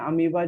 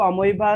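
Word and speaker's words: amoeba: बार बार है नहीं, उसको अमीबा ही पढ़ते हैं, इंग्लिश में भी अमीबा पढ़ते हैं, लेकिन अमोइबा बोलने से उसकी स्पेलिंग याद आ जाती है, क्योंकि स्पेलिंग थोड़ी सी अजीब है उसकी।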